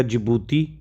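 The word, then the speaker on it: Djibouti: ठीक, डी से क्या हो गया, जिबूती। ठीक है, ये मतलब डी यहाँ पे साइलेंट है।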